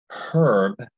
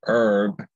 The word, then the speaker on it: herb: If someone says the word herb, I know they're from the East Coast, okay? And if you say herb, pronounce the word herb, H-E-R-B, you're from the West Coast.